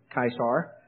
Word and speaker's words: Caesar: that is more like kaisar those of you who if you ever studied latin the c is normally pronounced as a k but the german pronunciation